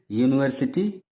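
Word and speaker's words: university: होगा इसी तरह से यूनिवर्सिटी यूनिवर्सिटी शब्द की भी शुरुआत यू से हो रही है जो कि वावेल है लेकिन इसका भी उच्चारण य से हो रहा है जो कंसोनेंट है तो इसलिए यूनिवर्सिटी के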